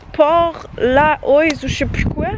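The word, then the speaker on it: Portlaoise: Parce que anyways, même quand tu penses être capable de lire les noms des villes ici, ça se prononce pas comme ça. Genre je vais vous l'écrire puis ça se dit genre Port-leash ou quelque chose comme ça.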